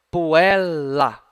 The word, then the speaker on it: puella: Olhem só, pessoal, tem dois L's, não tem? Letrinha repetida. O que acontece? L de um lado, L numa sílaba, o outro L na outra sílaba. Então, puella.